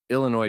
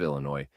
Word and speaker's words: Illinois: And anyone who pronounces the S at the end of Illinois deserves to be corrected loudly.